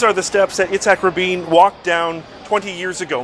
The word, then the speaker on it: Rabin: R chairman Arafat the president of Mr Rabin Rabin that's how it's put the name is pronounced okay so all of that let's see